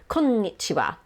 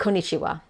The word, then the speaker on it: konnichiwa: one n ko ni it is actually two n's so it's kom nichiba so you have to really stress that konnichiwa don't think konichiwa that's not the correct word so konnichiwa the next